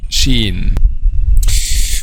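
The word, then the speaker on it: شين: the first time that the counterpart in english is s h okay so it's not ch by the way but it's s h the next point which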